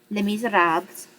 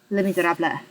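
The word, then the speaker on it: Les Misérables: Les miserabs oh sorry when Mom looked it up online is how it's actually pronounced so the Miserables I can't do this French guttural noise thing I have a tendency to go for more of a Spanish but anyway s Les Miserables excuse me I loved this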